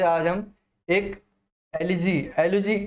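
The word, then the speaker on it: elegy: से आज हम एक एलिजी एलिजी ये एलिजी भी नहीं होता है, इसको हम एलुजी बोलते हैं, ठीक है? एलुजी ई है लेकिन यू का प्रोनाउंसिएशन करेंगे, ये होता है एलुजी।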